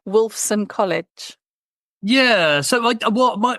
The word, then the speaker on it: Wolfson: person who was someone when you were at Wolf I can't say I'm saying it wrong Wolfson College yeah so well my my undergraduate I